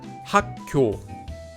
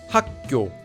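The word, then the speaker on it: 학교: by a base consonant, the second base consonant will become pronounced like a double consonant.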